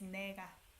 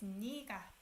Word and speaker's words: 네가: But you don't pronounce it as 내가. Because it sounds like this. So you pronounce it as 네가.